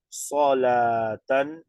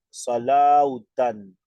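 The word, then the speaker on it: صلاة: Solatan, en vez de decir salautan. Eso está mal pronunciado.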